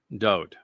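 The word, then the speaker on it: דוד: The name was written Daleth, Wah, Daleth. Pronounced Dowd.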